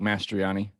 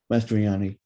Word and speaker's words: Mastroianni: Mastr- Sorry, I don't know how to pronounce it. You're good. It's Mastroianni. Mastroianni.